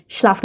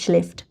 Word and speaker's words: schläft: যেমন দেখেন স্লাফট বলে ফেলেছে, কিন্তু উচ্চারণটা হবে শ্লেফট। ঠিক আছে, আম জোনঠাগ শ্লেফট খান লাঙে, লম্বা সময় ধরে ঘুমায়।